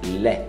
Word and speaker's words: lait: Lé. Não pronuncia o T.